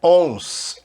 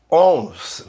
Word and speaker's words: once: Repara a pronúncia dessa palavra, não é ons, é once. Não tem uma letra U aí, né? Mas a gente pronuncia como se tivesse um U antes do O.